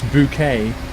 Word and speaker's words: Bucket: Keeping up appearances with Miss Bouquet. Even though her name was spelled bucket, she pronounced it bouquet.